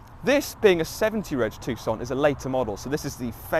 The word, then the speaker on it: Tucson: Moving on to the rear of the Tucson or Tucson, if you're a bit of a weirdo, it's pronounced Tucson, trust me.